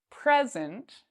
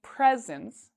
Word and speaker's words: present: here the word present if I put stress or if I say louder and longer the first part present I have many presents then this means like a gift okay versus present that's an action that's a verb I presented today I